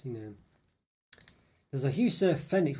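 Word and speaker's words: Fenwick: know there's a Hu Fenix what did I say fenx yes Fenix okay with a silent W in the center of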